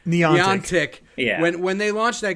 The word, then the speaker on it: Niantic: Harry Potter from Niantic didn't even catch on as much as Pokemon Go.